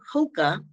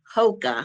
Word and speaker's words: Hoka: known Brands Uggs o hookah Hoka let me make it say it right in tea which cat